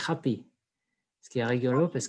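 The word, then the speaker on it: agapè: Et le dernier, c'est Agapé, mais j'ai vérifié cet après-midi et la prononciation, c'est Happy.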